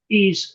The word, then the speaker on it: Tao: And in Chinese they spell it with a D, but in the West we tend to spell it with a T. So Tao sounds like Taoist, but it's actually the Taoist, the Tao.